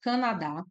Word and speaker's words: Canadá: nós temos a palavra Canadá eu vou separar as sílabas e destacar a sílaba mais forte então Canadá a sílaba mais forte é o dá nós temos aqui uma